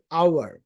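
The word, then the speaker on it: hour: আর একটা হচ্ছে আমাদের আওয়ার, এখানে এইচ আছে বাট ওটা এইচটা ইগনোর করে আওয়ার, ওর সাউন্ড হচ্ছে, তা ও হওয়ার কারণে এখানে এন হচ্ছে, রাইট?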